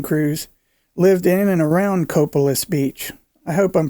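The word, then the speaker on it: Copalis: grey's harbor county primarily in the area of coppolis beach several of the men on his cutting crews lived in and around coppola's beach i hope i'm pronouncing that right guys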